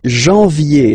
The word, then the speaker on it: janvier: But anyway, janvier, so that's the way to pronounce it. Janvier, A-N, en, okay? And then ye, janvier. Then comes février, okay?